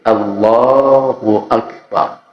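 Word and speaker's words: الله أكبر: baca Takbiratul Ihram itu tidak dibaca panjang tidak dipanjangkan dan tidak dilagu-lagukan loh kadangkadang ada yang macam-macam bacanya ada yang sampai suara terputus Allah akbar nah kayak kayak menghayati betul padahal itu salah H ya Jadi ya sekedarnya itu apa adanya enggak bisa dibikin-bikin Allahu akbar jadi di saat ngucap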